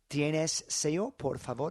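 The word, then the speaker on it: sello: o o um but that double L is pronounced like a Y in English. So um you could say something like Seavo, do you have the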